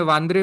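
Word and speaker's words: Bandra: तो हिंदी में हम लोग सबब्स को बांद्रा बोलते हैं, मराठी में वांद्रे बोलते हैं. ओके, बांद्रा एज अ सबब. ओके, तो इंग्लिश में वो लोग बांद्रा एक स्टाइल से बोलते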